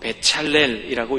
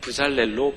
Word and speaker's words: 베찰렐: 브살렐이라는 이름은 히브리어로 베찰렐이라고 읽습니다. 우리말 성경으로 번역될 때 이 베찰렐을 브살렐로 표기한 것이죠.